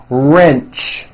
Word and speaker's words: wrench: porch March patch wrench notice the strong R sound at the beginning of that word wrench coach approach also with